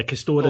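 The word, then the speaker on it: Castore: Okay, yeah, Castor is apparently the pronunciation.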